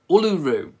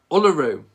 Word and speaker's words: Uluru: Oh, apparently the pronunciation, it's Uluru. Uluru.